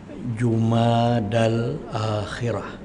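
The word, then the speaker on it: جمادى الآخرة: kita berada dalam bulan jumadal akhirah sebutannya ya jumadal akhirah hejaannya Jim mim Alif Dal ya tak bertitik jumada jumadal akhirah ya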